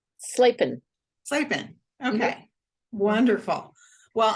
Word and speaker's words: Slapin: Slapin.